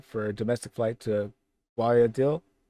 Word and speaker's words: Guayaquil: from Quito, Ecuador for a domestic flight to Guayaquil. How do you pronounce that? Guayaquil.